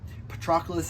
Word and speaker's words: Patroclus: You know, there was no kind of two different letters for c and k in ancient Greek, so it can be kind of tricky, but Patroclus is sort of the the accepted sort of pronunciation of his name.